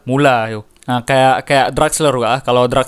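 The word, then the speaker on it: Müller: saatnya giliran Thomas mula Thomas mulai bacanya bukan muler muler boleh juga kalau-kalau ini saya kita mulai apa sih sebenarnya tapi kalau baca yang benar mulai yuk nah kayak kayak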